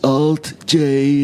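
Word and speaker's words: Alt-J: to Alt J uh is that how you pronounce it or Al J well how you pronounce that is Alt J it's bigly huge it's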